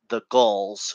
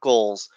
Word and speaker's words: San Diego Gulls: Didn't want the Gulls, trying to pronounce it, not goals, the San Diego Gulls, their team.